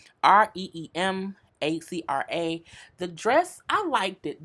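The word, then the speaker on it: Reem Acra: Reem Acura. It sounds like a car. Reemacra.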